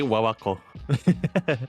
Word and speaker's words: WWCO: I just say Wawako.